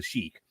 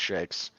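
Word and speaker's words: sheikh: but that's beside fake it's properly pronounced shakes and by his buddy um look we can blame vince mcmahon for generations of people not knowing how to pronounce that word properly it would have been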